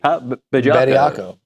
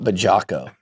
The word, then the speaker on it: Bediako: Bediako? Would you prefer that? No, I prefer you say it right. Bediako. It's not Bajako. There's no J in there.